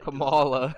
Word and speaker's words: Kamala: harris i think that's how you say it kamala it's kamala it's kamala it's not look it